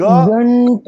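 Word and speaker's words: घण्टः: वही रूल, कंड कंड अनुस्वार जाएगा, ग घंट ट घंट घंट घंटः घंटः अस्ति, घंटः, घंटः घंट नहीं, घंटः।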